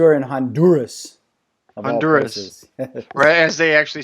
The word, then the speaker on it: Honduras: Yes, you are in Honduras, of all Honduras. places. Or as they actually say it here, Honduras. Honduras. They don't pronounce the H in Spanish.